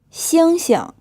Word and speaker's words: 星星: 星星 These 2 syllables are the same. The first one is in the 1st tone, and the second one is unstressed.